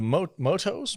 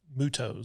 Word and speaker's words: MUTO: other thing too is the motos motus how do you say that mutos mutos okay the mutos the thing